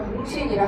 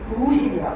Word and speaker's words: 부신: 잘못 발음해서 붕신이라 하면 안 돼. 붕신 아니고 부신이라고 해.